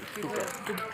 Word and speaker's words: Phuket: Oh, that's how you pronounce it. Phuket. I don't know. Fuck it.